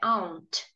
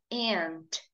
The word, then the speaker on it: aunt: Lembrando que tia em inglês tem duas pronúncias, tanto o inglês britânico quanto o inglês americano. Então vamos lá. Tia no inglês britânico é aunt, aunt. E tia no inglês americano é aunt.